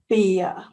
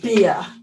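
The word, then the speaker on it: bier: corpse it's called a beer it's like beer okay drinking beer it's the same pronunciation beer is a a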